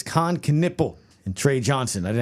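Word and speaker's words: Kon Knueppel: I had to look up the pronunciation, but it's Khan Knipple and Tre Johnson.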